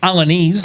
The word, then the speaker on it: Alaniz: So Ernesto Alaniz. So am I saying that right? Alaniz. Alaniz. Close. I did it wrong on purpose. It's allowed, man. I do it so you can say it correctly.